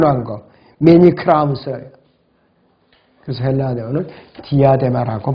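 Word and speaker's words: διάδημα: 헬라어 발음으로 디아데마라고 하는데요.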